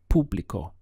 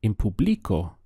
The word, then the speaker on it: público: say in public or notice that the accent is here over the ooh público if you put it here and said in public oh you would not be understood you would get that blank look of I have no idea of what you just said so it's very important that your push your accent comes here in public oh how would